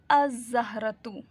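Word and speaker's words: الزهرة: अज़हरतु, अज़हरतु, the flower. अज़हरतु क्यों होगा? क्योंकि जाल जो है वो लेटर सन लेटर्स में से है।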